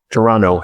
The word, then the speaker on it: Toronto: Toronto, if you're from there, you don't pronounce the second T.